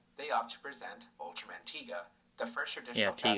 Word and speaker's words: Tiga: Instead, they opt to present Ultraman Tiga, the first traditional Yeah, Tiga, Japanese somebody Ultra corrected us on series in that.